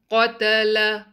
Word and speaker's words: قَتَلَ: قَتَلَ. Again, ta and lam has to be light. Only qaf will be heavy.